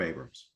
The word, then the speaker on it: Abrahams: Anam and we are here today with Abrams um am I pronouncing your name correctly your last name you are you are it's Abrams yes and is um excuse me he's